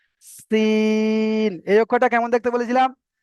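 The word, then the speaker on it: سين: দন্ত ন, শিন রয়েছে, তো আপনি হয়তো আহ, শিন বা আহ, এমন মানে বাংলা অনুযায়ী বলে দিলেন শিন, এমন ভাবে কিন্তু করলে হবে না। এখানে যে সিটির মতো উচ্চারণটা করে আমি উচ্চারণ করছি, এটাই আপনাকে করতে হবে।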